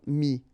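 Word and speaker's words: mis: And then ES now, final S not pronounced, but still you need to write it. Mettre, for instance, EWTRE, will become mi, ES.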